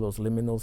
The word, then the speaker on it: Los Liminals: So I have a band called Los Liminals, and I always tell people it rhymes with Los Criminals, you know, because liminal